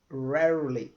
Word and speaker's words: rarely: você faz alguma coisa rarely isto a pronúncia geralmente o pessoal tem um pouquinho de dificuldade tá rarely rarely é que nem um cachorrinho pequeno aqueles lá que ficam Latino né R rar então rar rarely quer dizer você faz alguma